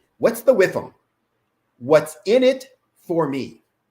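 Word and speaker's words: WIIFM: w i FM and I always pronounce it whiff them what's the whiff them what's in it for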